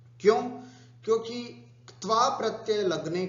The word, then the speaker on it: क्त्वा: क्त्वा, क्त्वा, है ना, कत्वा भी नहीं बोलना है और तवा भी नहीं बोलना, त्वा भी नहीं बोलना है। क्त्वा, है ना, हल्का सा क का उच्चारण और फिर त और फिर क्त्वा प्रत्यय, क्त्वा प्रत्यय, ऐसा उच्चारण अपने को करना है ना।